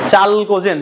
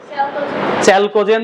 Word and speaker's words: চ্যালকোজেন: চালকোজেন। শোনা হয়েছে? চ্যালকোজেন বা চালকোজেন, দুইটাই উচ্চারণ হয়।